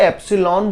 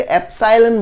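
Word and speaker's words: epsilon: डरपोक मत जाइए क्लियर कुछ लोग इसे साइलेंट बोलते हैं कुछ एप्स लोन बोलते हैं तो एप्सिलॉन नोट बुक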